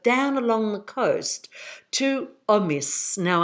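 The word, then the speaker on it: Omiš: along the coast to Omis. Now, I know the S isn't pronounced like that, but that's how I'm pronouncing it.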